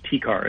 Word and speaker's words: TCAR: Can you pronounce it for us and tell us what it is? Sure. So we call this TCAR, and what that stands for is transcarotid arterial revascularization.